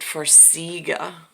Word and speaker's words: Farxiga: They pronounce it Farxiga.